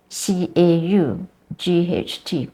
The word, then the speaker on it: caught: so words are not pronounced the way they spell that doesn't happen most of the time yeah so if you have caught c a u g HT CAU CAU is is not a long vowel